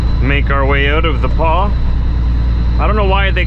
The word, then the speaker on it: The Pas: our way out of the Paw I don't know why they call it the Paw it's t-h-e like the and paw p-a-s it's like the pass but it's called The Paw I don't know much